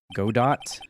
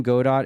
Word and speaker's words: Godot: Remains now is for the dance to begin God do new Pro prosecutor Ace detective and a thief this will be a tough trial God do the name Godot is actually pronounced go goo godo godo